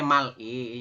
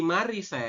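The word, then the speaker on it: 말이: gak bisa diedit Nah ini kan secara tulisan adalah Mal terus ditambah dengan vokal I kayak gini ya cuman menurut aturan baca yang ada di sini ya ini dibacanya bukan Mal tetapi dibacanya adalah ma r seperti ini kenapa kok jadi mari Kenapa karena DII aturan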